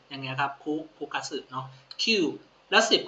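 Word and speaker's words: 九: กับ คุ นะ ครับ Q กับ คุ แต่ อ่าน ว่า Q ดี กว่า นะ ฮะ นิยม ใช้ มาก กว่า คุ ก็ คล้าย ๆ กับ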